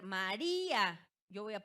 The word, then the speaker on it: María: Pues fíjense en la palabra María. Tenemos María. ¿Dónde recae la sílaba tónica? En la penúltima, o sea, es una grave. Y termina en ¿qué? En vocal.